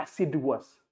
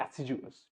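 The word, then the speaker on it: assiduous: Pronunciation is नॉट एसिडुअस, pronunciation is एसिडुअस, ठीक है?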